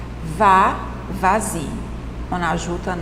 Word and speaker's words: vas-y: Regardez, parle-en, vas-y. Le S est prononcé comme Z en raison de la voyelle, en raison du son de voyelle que vous avez ensuite.